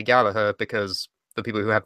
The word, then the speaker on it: Gallagher: it just me or can Americans not pronounce Jack Gallagher's name Gallaher its Gallagher he's well ago it can